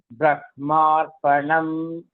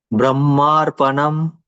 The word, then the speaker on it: ब्रह्मार्पणं: Brahmarpanam. Brahmarpanam. Atra Brahmarpanam, Brahmarpanam. Dvayamapi Samyakyeva. So both the pronunciations are okay.